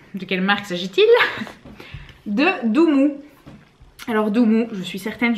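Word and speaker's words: Doomoo: Et donc en fait c'est Doumou parce que c'est doux et c'est mou.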